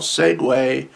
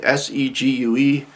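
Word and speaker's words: segue: you would use uh segway is number 12 segway it's the the little mobile device that you would um that you've seen executives travel about in uh it's pronounced segway but if you look at it s-e-g-u-e you would think it's siku or segu um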